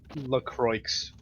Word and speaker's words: LaCroix: LaCroix. LaCroix, yeah. It's the correct California pronunciation.